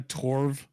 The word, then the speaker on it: Torv: Yeah, and I think like you have I can't how to pronounce her last name, but Anna Torv, I think that's how you say it, Torv.